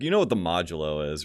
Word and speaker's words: modulo: Yeah, I was like, it's Modelo, right? Yeah, it's like Modelo. No, it's modulo, and I'm like, oh shit.